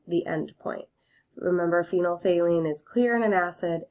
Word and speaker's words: phenolphthalein: we're gonna use phenolphthalein phenolphthalein is how you say that indicator if you remember from